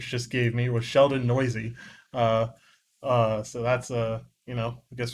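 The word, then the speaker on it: Neuse: Oh, we're both wrong. Can you guess what it really is? Nice. Nope. Noisy. Sheldon Noisy.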